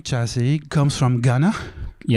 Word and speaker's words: Gyasi: At last, after titling your last album after yourself, yeah, pronounce Chassi, we know more about the origins of your name.